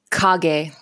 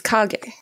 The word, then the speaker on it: Kage: Growing up, Legend of Cage was how I pronounced it. That's how you pronounce it in America, but the Japanese pronunciation is Kage.